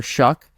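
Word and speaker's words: Shough: gets drafted is Tyler shuck I believe that's how you pronounce his last name I it's it ends with GH but I think it does pronounce as a k um he's the quarterback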